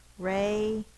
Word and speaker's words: radio: Radio. Ray. Open syllable, the vowel is long. A. D is the D-I. It says the long E sound. D and O. It's a long sound. It's an open syllable.